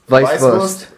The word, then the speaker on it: Weißwurst: It's Weißwurst.